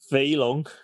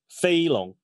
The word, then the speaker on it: Feilong: Feilong. And then pronounce it like fat dragon. Feilong.